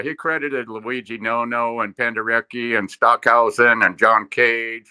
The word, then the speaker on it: Penderecki: as Edgard Varese, who Stockhausen, and am I pronouncing this right? Penderecki?